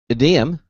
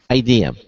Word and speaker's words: Ideum: a company called uh adum like Museum adum uh and uh we're gonna have better better to hard pronounce the I IDM IDM IDM okay IDM there you go there we go uh and they're going